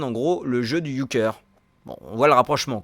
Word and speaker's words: Euchre: L'Ushre, qui est apparemment prononcé Euchre, est un jeu alsacien